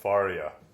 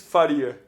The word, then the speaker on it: Faria: And I've just found out that I've been pronouncing your last name wrong. I thought Faria. You're saying Faria. Faria. Okay, Faria. No, but we're gonna finish this podcast with me looking like a total idiot. No. Pronunciation front. No, here you ask people say Faria. Yeah. Faria. The Portuguese is Faria.